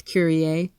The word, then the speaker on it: curiae: I've heard it pronounced differently, but I believe it's Curiae.